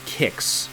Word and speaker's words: Qix: And it's a sequel to Kicks, which is spelled QIX, a game that I've played a little bit on Atari with this concept.